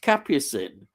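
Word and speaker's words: Capucine: one word uh uh capucind it's pronounced capin that's it that's what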